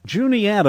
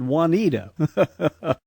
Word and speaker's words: Juniata: Wanita yep the Juniata Juniata I've always pronounced it Wanita yep it is it is a it is a pronounced J you do annunciate the J and so it's the